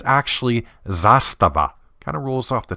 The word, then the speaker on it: Zastava: K Republica Serbia I generally hear their name pronounced as Zastava or Zastava the correct pronunciation isn't far off it's actually Zastava kind of rolls off the tongue if you're